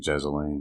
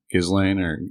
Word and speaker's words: Ghislaine: uh i don't know i keep saying jezeline i don't know how her name's pronounced i think you said it right his lane yeah i i just heard some brit caller so i was like